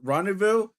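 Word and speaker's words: rendezvous: It was rendevous because I forgot the Z and S is silent.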